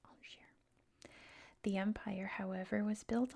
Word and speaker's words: Angers: the capital of Anjou, the city of Angers. I see, that's how you say it, Angers.